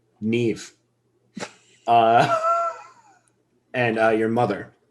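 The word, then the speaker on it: Niamh: village elder it's pronounced nev nev that's weird that's not how that's spelled it's celtic neve uh and uh your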